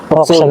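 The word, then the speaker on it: Jocson: Okson. Siya ano? J-O-C-S-O-N, Hoxon. Okson. JOC. J-O-C-S-O-N. Hoxon ang pronunciation.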